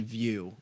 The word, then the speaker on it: PlayStation Vue: television service called PlayStation view it's spelled vu ii because you got to be different right it's a wait how is it spelled v ue stupid yeah well they